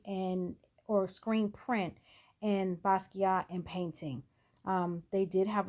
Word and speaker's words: Basquiat: his name properly um the the t is silent on basquiat at the end i did look that